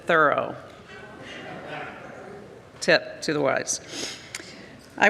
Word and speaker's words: Thoreau: I have to tell you, I learned you have to pronounce it Thoreau.